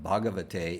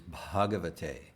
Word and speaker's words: Bhagavate: you like again so after the age after the b the h you there is a whisper right you're pronouncing this where you put some yes you put some air after the b so instead of bhagavate it is bhagavatay is transformed to bhagavad